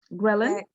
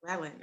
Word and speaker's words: ghrelin: I thought you said Relin or Raylene or something like No, that. it starts with a G.